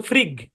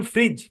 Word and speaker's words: fridge: কারণ যদি আপনার ই যদি না থাকতো তাইলে এই শব্দের উচ্চারণ তো ফ্রিগ। কারণ একটা রুল আছে, জি এর পরে কিছু না থাকলে জি এর উচ্চারণ গয়ার মতো হয়। যেন জি এর উচ্চারণটা গয়ার মতো না হয় এই কারণে ই আই না সেটাকে জি এর উচ্চারণে কনভার্ট করা হচ্ছে। মানে ভিতরে অনেক প্যাচ মোচর আছে আর কি। তো যাক, শব্দের উচ্চারণ ফ্রিজ, কি উচ্চারণ?